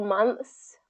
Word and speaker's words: months: several months months and it basically is is just getting that th that tongue between the teeth and then pulling it back in and closing the teeth off um for that s sound so let's just focus